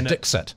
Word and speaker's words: Dikshit: The official pronunciation was Dikshit.